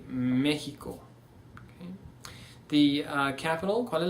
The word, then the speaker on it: México: So instead of saying Mexico, we see México.